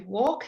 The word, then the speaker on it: walk: So let's do walk again. Again, your silent letter L.